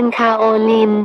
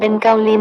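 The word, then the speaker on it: kaolin: ซึ่ง คน ส่วน ใหญ่ จะ อ่าน ออก เสียง เป็น คาโอลิน แต่ จริง ๆ แล้ว คำ นี้ เป็น การ เขียน ทัพ ศัพท์ ใน ภาษา จีน ให้ อ่าน เป็น เกาลิน เหมือน กัน คำ ว่า เกาลิน นี้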